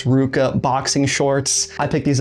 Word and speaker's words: RVCA: And they got the VA from Ruka, which that's how you pronounce that RVCA brand.